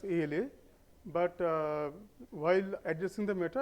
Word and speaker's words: ALA: of ala installed okay it should be pronounced as ala but while addressing the matter I pronounced Allah and sorry for that